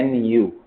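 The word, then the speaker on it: nu: ऐसे भी होता है इसको प्रोनाउंस कैसे करते हैं इसको प्रोनाउंस करते एय न्यू न्यू प्रोनाउंस करते ठीक है याद रहेगा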